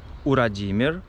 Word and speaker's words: Урадимир: На японском языке имя Владимир звучит как Урадимир.